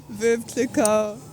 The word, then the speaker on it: Veuve Clicquot: Veuve Clicquot.